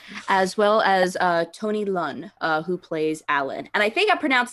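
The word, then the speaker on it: Leung: i think i'm there learning with a g on the end learn learn thank you thank you l-e-r-n-g is kind of pronounced okay so tony learn um so uh when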